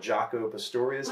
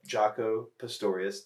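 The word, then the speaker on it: Jaco Pastorius: will say if you want more of a jocko pistorius type sound jaco is a really famous bass player check them out if you're interested in bass look up jocko pistorius that's j-a-c-o jocko pistorius p-a-s-t-o-r-i-o-u-s that's hard that's kind of hard to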